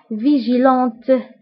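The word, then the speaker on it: vigilante: وبالنسبة للمؤنث يعني يقظة فهي فيجيلونت، فيجيلونت. فبالنسبة لفيجيلون ما نطقناش تي في مذكر او في الماسكولين، ولكن في المؤنث كنطقوها كنقولو فيجيلونت لانه تد في حداها او. دونك كنقراوها كنقولو فيجيلونت.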